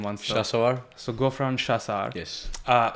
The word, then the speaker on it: Shasawar: Could you could you tell me how to how to pronounce the second name once? Shasawar.